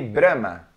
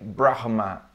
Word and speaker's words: Brahma: you pronounce this brand Brahma yes here we say Brahma Brahma grandma yes I was expecting like Brahma or something like this but no because this letter H in the middle very cetera yeah Brahma